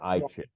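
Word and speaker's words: I Ching: an ancient Chinese system called the eing or iin depending on how you want to pronounce it now one more visual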